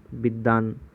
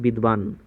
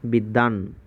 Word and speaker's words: বিদ্বান: বিদ্যান, আমরা অনেক উচ্চারণ করি কি বিদ্বান, কিন্তু উচ্চারণ হবে কি বিদ্যান।